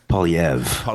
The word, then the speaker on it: Poilievre: Pierre Poilievre? He changed the pronunciation a while ago. Poilievre. Okay.